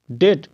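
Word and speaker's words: debt: है ठीक है जैसे टी ई बी टी ठीक है तो यहां पर जो बी है इसका उच्चारण नहीं होगा याद रखिएगा डेट इसको बोलेंगे डेट क्या बोलेंगे डेट डेट मतलब कर्ज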